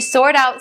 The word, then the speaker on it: sort out: now for the pronunciation we're going to concentrate on the first phrase to sort out something now that t is standing in between two vowels so we change it to the d sound so we'll say to